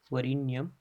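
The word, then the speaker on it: वरेण्यम्: ये उच्चारण वरीण्यम हो जाता है। आपको यही उच्चारण जाप के वक्त करना है। यही एक सटीक उच्चारण है इस मंत्र का।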